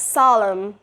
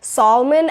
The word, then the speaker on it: solemn: Next word we got, solemn. S-O-L-E-M-N. So people usually pronounce it as like Solomon. I solemnly do this. No, it's not Solomon or like Salem.